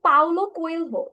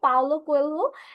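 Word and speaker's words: Paulo Coelho: বাট হচ্ছে গিয়ে স্যার, রাইটারের নাম হচ্ছে স্যার পাউলো কোয়েলহো। ওকে, সো আমরা হচ্ছে কি এটা উচ্চারণ হবে পাওলো কোয়েলহো।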